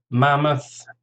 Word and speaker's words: mammoth: Mammoth, 2 syllables, stress on the first, mammoth.